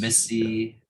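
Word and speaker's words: MIS-C: I've heard people Forget what it pronounce stands- it different ways. Some people call it MISC. I've heard. For MISC, Missy. I think I stick with MISC.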